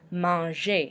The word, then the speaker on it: manger: So since it's an ER verb, we do not pronounce the R at the end. It's pronounced almost like it had an E with an accent aigu at the end. Manger. So it's said kind of like A.